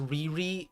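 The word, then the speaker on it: Lili: It's pronounced Riri in the Japanese LRD kind of sound.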